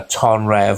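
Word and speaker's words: Tonyrefail: I'll tell my hometown, because I'm not there no more, Tonrev or Tony Revile, it's spelt.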